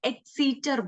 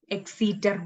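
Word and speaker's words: Exeter: junior manuscript and the second one is like exceeder book e-x-e-t-e-r exceeder book and the third one is very silly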